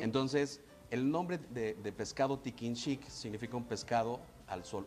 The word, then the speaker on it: tikin xic: Entonces, el nombre de pescado tiquinchic significa un pescado al sol, un pescado secado al sol, eso es lo que significa.